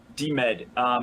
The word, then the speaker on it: DMed: It's DEMED. So it's DMed? Yes. DMed.